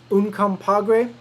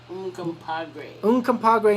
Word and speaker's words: Uncompahgre: It's actually pronounced Uncompahgre. Uncompahgre National Park.